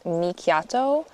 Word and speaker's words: Mikiato: It was inspired by Japanese, so technically it's Mikiato, but then I just go by, not Miki. So, like, that's how it's